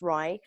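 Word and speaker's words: RIE: is Magda Gerber's philosophy it's pronounced rye rye is an acronym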